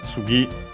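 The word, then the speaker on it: 次: First and foremost, we have Tsugi on its own accent on the last syllable. Here, not because we had the particle no, and so that makes the word unaccented, unlike other particles.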